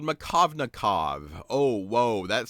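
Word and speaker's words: Markovnikov: you is something that's going to be called machovnikov oh whoa that sounds fancy doesn't it well let's spell it it's harder to spell than it is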